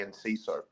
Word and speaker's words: Enciso: Sorry, I'm just gonna relieve myself all over your bonfire because it's actually Enciso.